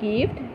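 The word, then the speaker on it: gift: কর পড়ি বলে গেছিল কিন্তু আমি ইয়াতে গার্ল উচ্চারণ করুম জি আই এফ টি গিফট জি এর পিছ আই আছে কিন্তু গ উচ্চারণ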